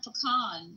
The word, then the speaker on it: pecan: That's stupid, pecan or pecan. It's the same thing.